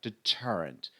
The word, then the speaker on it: deterrent: a disaster failed a succession of deterrence let's pronounce it together deterrent deterrent ption to the pr of the first